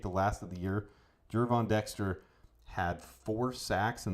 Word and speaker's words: Gervon: first round Geron deck gervon I get I get that I don't say his name right guys it's hard for me gervon I think is what everyone says you should say gervon Dexter senior and Tyreek